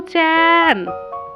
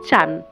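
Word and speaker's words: ちゃん: মনে হতো যেন মহিলা সব সময় ওর ছেলেকে খুঁজছেন, মাসাও চ্যান, মাসাও চ্যান বলে। কিন্তু জাপানি ভাষায় উচ্চারণটা হওয়া উচিত ছিল মাসাও চান। তার বদলে মহিলা বলতেন চান।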